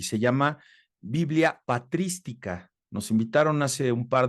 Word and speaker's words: patrística: se las recomiendo ampliamente Biblia patrística con acento en la i patrística muy bien entonces ya